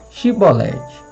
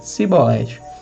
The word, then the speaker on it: chibolete: abordados na fronteira e obrigados a pronunciar a palavra chibolete corrente de água por esse recurso todos os eframitas foram descobertos pois pronunciavam a palavra com som de s ou seja simbolete essa curiosidade linguística pode